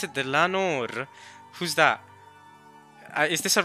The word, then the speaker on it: Dlanor: She pronounced it Dlanor.